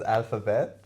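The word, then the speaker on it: Alf & Bet: Al- It's It's pronounced as Alphabet, but it's Alf and Bet.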